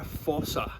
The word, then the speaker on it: fossa: about this species, about fossas in general. They're quite weird. Many of you at home may never have heard of fossas before. So the fossa, or sometimes pronounced Fossa, comes from over in Madagascar.